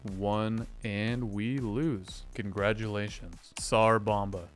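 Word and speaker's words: Tsar Bomba: Congratulations, Sar Bomba. Is it bomba or bama? Like sarbama. Sar bomba. It's spelled bomba.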